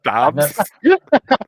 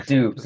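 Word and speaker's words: Doubs: Dobbs. That's it's Dubes actually. Doobie. I've never heard of him, and I Oh, pronounced really?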